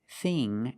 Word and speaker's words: thing: Our first example is the pronunciation of words with the spelling ing and ink, like thing and think. The dictionary shows the word thin with the same pronunciation as thing and think, but they are different. Thin, thin, is a short I sound, thin, like this is thin. But with ing and ink, we use the long E sound, like green beans.